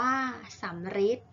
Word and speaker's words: สัมฤทธิ์: ม 6 ทำ ที่ ออก เสียง ริ เช่น สัมฤทธิ์ อ่าน ว่า สัมฤทธิ์ อังกฤษ อ่าน ว่า อังกฤษ